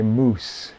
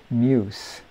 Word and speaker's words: muse: familiar with it so she's pronouncing it the way it looks but of course it's supposed to be you're my muse and you know it's